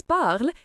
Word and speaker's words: parlent: Note, the ending en is silent, so ils parlent is pronounced simply as parle.